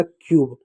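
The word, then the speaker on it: cube: सी का क्या होगा? आधा क होगा। यू का क्या होगा? यू हो जाएगा। बी का ब हो जाएगा। हो जाएगा क्यूब। क्यूब मी्स होता है घन ई साइलेंट होगा।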